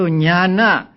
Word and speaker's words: Ñāṇa: Now, as I explained a few days ago, the dot beneath the letters mean that they are to be pronounced with the front of the tongue touching against the heart palate. They are called cerebrals. So Ñāṇa, the word Ñāṇa means knowing or knowledge.